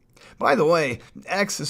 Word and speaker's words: Exe: By the way, X is spelled EXE, which is the shortened form of the computer command, execute.